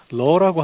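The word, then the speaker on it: לְ: 적혀 있는데 거기에 쓰여진 그 단어가 히브리어 단어가 러라고 하는 단어입니다. 뭐 학자들에 따라 레라고 읽기도 하는데 이 단어는 어떤 뜻이냐면 기본적인 뜻은 사실은 영어의 for에 해당하는 단어예요.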